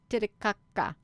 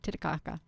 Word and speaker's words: Titicaca: are it's an ancient alien base on lake titicaca i think i said it right you i